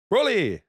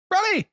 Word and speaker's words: Broly: So we went and watched that, and we went and watched how the Japanese pronounce it, and they pronounce it Broly. Brolly, right? Brolly. So there you go. It is Broly.